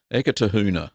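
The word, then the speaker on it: Eketāhuna: of Biddy Fraser Davies let me pronounce this eka taha hyuna acre to Hoonah there we go I'll use that Aras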